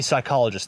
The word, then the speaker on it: psychologist: are you a psychologist that would be psychologist the P at the start is silent okay can we take